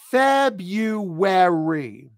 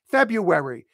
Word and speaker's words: February: That's why it's so hard to pronounce this word. February. And when you say it fast, it's February. February, February, February, February, February, February, February. That's how you say it.